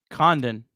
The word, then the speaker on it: Condon: Condon.